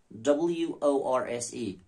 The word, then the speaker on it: worse: Horse and worse. See, C-O-R-P-S-E, corpse. C-O-R-P-S, core. H-O-R-S-E, horse. W-O-R-S-E, worse. So W-O-R-S-E, it rhymes with V-E-R-S-E, like. That is verse, this is worse, you know.